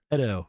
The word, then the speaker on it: Edo: Edo. Yes, I know how to pronounce things.